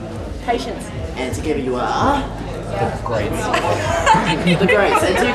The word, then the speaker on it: The Grates: Because it's spelled like the other way. Patience is correct into... Yeah, it's like grating cheese or grating your nerves.